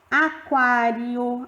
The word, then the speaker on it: aquário: Então, a letra U é a semivogal e a letra A é a vogal, porque sai o som mais forte.